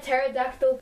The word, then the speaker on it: pterodactyl: trans or not okay the word pterodactyl pronounced the silent P pterodactyl yeah you then yeah